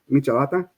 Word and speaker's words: michelada: I pronounce it like Michelob instead of Right.